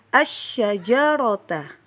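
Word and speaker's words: الشجرة: Kemudian contohnya adalah asyajarota. Jadi alif lamnya itu tidak dibaca lagi. Langsung ke huruf sya.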